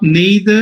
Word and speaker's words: neither: neither it is not neither it is neither i as in ice as in life as in wise okay